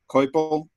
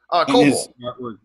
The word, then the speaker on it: Coipel: It was the first I had seen, and I don't know how you pronounce his last name, Oliver Coipio. Oh, right, right. Coipel.